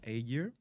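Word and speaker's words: Ägir: requests actually for an A gear. Am I pronouncing that correctly? Yep, A gear. So it's basically like think of like a bicycle gear, except you take out bicycle and you get A gear.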